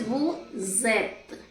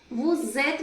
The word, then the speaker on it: vous êtes: But when the next letter is a vowel, we merge these two sounds.